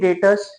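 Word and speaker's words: debtors: I I say Sury datas datas M datas are the people from whom we have to recover money and remember some people call it as deas it is not deas B is silent so when I say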